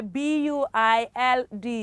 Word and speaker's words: build: the last one yeah b-u-i-l-d is build sorry the letter u is silent so it is build